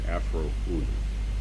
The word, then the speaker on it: Afroo OoNoo: And for the benefit of the reading public, the name Afroo OoNoo is pronounced Afroo OoNoo.